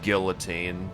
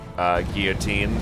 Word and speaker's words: guillotine: I've always heard it pronounced as guillotine rather than guillotine.